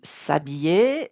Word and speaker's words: s'habiller: So, and s'habiller, the H is not pronounced, so it acts like a vowel. So this would be je m'habille, I get dressed.